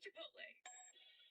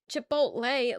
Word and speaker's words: Chipotle: But like Chipotle, like the lei doesn't doesn't sound right. You say Chipotle, it's Chipotle.